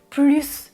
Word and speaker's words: plus: Je prononce 1 plus 2 égale 3. Je prononce le S du mot plus.